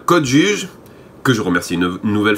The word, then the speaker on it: Code Juge: oui, entre parenthèses, entre-temps j'ai réalisé que juge, J-U-G-E, c'est bien l'orthographe française, donc on dit bien Code Juge et pas Code Judge, parce que ça s'écrit de façon différente en anglais.